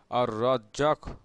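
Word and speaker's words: الرزاق: এর জিকিরের আমল ও ফজিলত তুলে ধরা হলো উচ্চারণ হচ্ছে আর রাজ্জাক এর অর্থ হচ্ছে রিজিক সৃষ্টিকারী সৃষ্টিজগতের নিকট রিজিক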